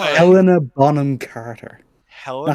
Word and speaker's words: Helena Bonham Carter: Helen Bottom Carter.